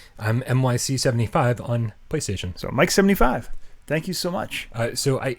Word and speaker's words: MYC75: Mike is pronounced Mike. I'm MYC75 on PlayStation. So Mike 75.